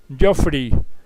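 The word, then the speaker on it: Geoffrey: esotéricas de la Biblia su nombre se pronuncia jofre pero se escribe geofrey con doble f para las personas que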